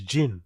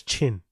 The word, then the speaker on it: Jin: His actual name is Jin, right? As in J-I-N. But no one can pronounce it. Well, all the idiots in that studio, especially Brendan, namely Brendan, couldn't pronounce Jin, but they mispronounced it as Chin.